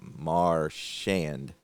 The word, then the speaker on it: Marchand: It's actually, they got it Marchand.